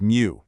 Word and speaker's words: mu: Then it gets really small with micro for a millionth and you'll notice that special Greek symbol mu which is pronounced mu.